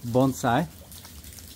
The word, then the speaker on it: bonsai: So, FYI, the pronunciation is bonsai. Just like ramen is ramen, not Raymond.